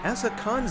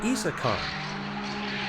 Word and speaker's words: Issa Khan: word that I have been mispronouncing Essa Khan's name wrong, and it's actually Issa Khan.